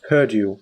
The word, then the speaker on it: Perdue: It's spelled Perdue with an E.